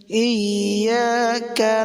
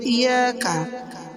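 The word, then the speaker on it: إِيَّاكَ: ইয়্যাকা না'বুদু ওয়া ইয়্যাকা নাস্তাঈন। ইয়্যাকা, এখানে ইয়া দুইবার হবে। ইয়্যাকা, যদি কেউ বলে ইয়াকা, ইয়াকা এরকম যদি বলে নামাজ হবে না।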